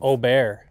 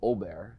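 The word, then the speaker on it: Åberg: was it hovland and uh we have the pronunciation now of oh bear Ludwig ol' Bear yeah uh and then Scotty Chef like Brooks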